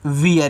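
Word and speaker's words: wear: तो यहां पे इ और ए का उच्चारण बड़ी ई की मात्रा के रूप में नहीं होगा। यहां पे आप इसको वियर पढ़ेंगे इस तरीके से। वियर जैसे आप देयर पढ़ते हो उसी टाइप से।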